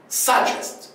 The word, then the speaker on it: suggest: اقول suggest suggest. لو ركزت تلاحظ ان في دي مع الجي، الصوت دي مع الجي كده في النص بيتقالوا مع بعض.